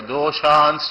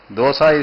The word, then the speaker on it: dosha: I better pronounce properly. Raja doshans chaturdasha. Otherwise your mouth will water. Raja dosha. Dosa is a popular Indian eatable. Dosha means shortcomings of good leaders.